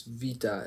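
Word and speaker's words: βήτα: So if you've heard beta, you're wrong. It's vita. That's how it's pronounced in Greek, too.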